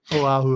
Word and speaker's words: Oahu: Oahu. Here's the easiest thing about Hawaiian. You literally pronounce every single letter.